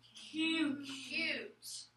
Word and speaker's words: cute: I see a U consonant E. E is going to make the U say its name. E is silent. We're going to code that A with a macron. U. The word is cute.